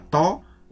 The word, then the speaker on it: tau: torsi itu disimbolkan dengan huruf Yunani simbolnya adalah huruf tho ya Jadi dibacanya tok untuk simbol torsi Nah untuk lebih jelasnya